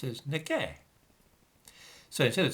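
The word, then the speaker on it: 那个: will instead say that that that which is pronounced as nega so instead of saying like and write a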